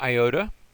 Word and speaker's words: iota: Next we have an iota. Both the I and even the small iota look a little bit like a I. That's not too difficult for us. That has the I sound like in fit.